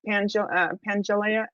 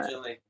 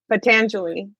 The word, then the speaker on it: Patanjali: I don't know, maybe you can talk about the sutras of Pangelea. How do you say it? Pangea Patanjali, Patanjali, Patanjali.